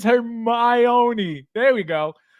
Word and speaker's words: Hermione: It's Hermione. There we go. Hermione, guys. It's not. No, you're putting the emphasis in the wrong place.